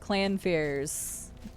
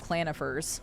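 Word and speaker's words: Clannfear: Yes, oh my god, yes, clan fears. I used to call them clanifers when I was younger until I actually, you know, figured out how to pronounce their names, which to anybody around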